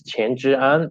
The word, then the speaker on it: Chen Zhiyan: chin uh and my chinese name is chen zhiyan in putonghua and in cantonese it is pronounced as and i'm now working